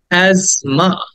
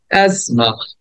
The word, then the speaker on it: asthma: asthma বলা যাবে না, asthma বলা যাবে না, এটা হচ্ছে asthma. বলো আমার সাথে, রিপিট করো, asthma. প্রথমে দেন জ, asthma, asthma. So asthma.